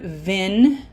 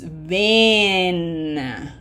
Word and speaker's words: ven: Okay, and this is not vin, it's ven. Okay, long E.